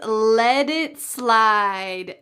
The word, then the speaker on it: let it slide: The third everyday expression is let it slide. Notice the pronunciation at the end of the word let. That t changes to a d. Let it slide.